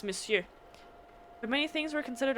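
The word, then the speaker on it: monsieur: I want to keep saying Monswis or miss but it's missu and I know that it's missu but the the spelling French spelling pisses me off so much because you don't pronounce any letter the way that it should be missu that's missu but many things were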